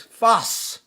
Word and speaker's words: Fez: the tartar bush of fez and i told you let me tell you something about that too first of all they pronouncing it wrong we don't say fez it's fast al maghribi the the original university